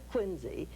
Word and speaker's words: Quincy: And why Quincy, pronounced with a Z, why they have their church named after Turk, nobody knows.